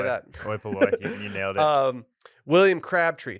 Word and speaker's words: Oi Polloi: Oi Polloi.